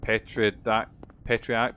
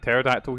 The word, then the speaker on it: pterodactyl: What's like a pterodactyl? See, as a kid, I thought uh I didn't understand that like P was uh was spelled like PH and you didn't hear it.